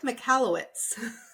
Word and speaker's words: Michalowicz: So you were practicing the pronunciation. So the author, which is Mike Michalowicz. well done. Michalowicz. Okay. Yeah, Mike McCallowitz.